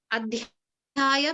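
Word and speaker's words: अध्याय: We know that it is there as part of the root, the actual word itself, but we don't pronounce it very specifically. So that's why when I wrote it in English, I wrote the A in parentheses.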